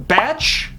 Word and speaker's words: Bach: I said King Bach because, you know, Bach is spelled the exact same way, so I just assumed. But clearly I'm wrong.